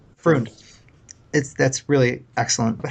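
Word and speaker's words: Freund: How do you pronounce his name? Froun.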